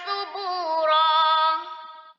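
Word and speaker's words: ثُبُورًا: Kemudian subuh ya, baknya panjang satu ayunan, ro yang berada di akhir ayat itu dibaca panjang satu ayunan juga.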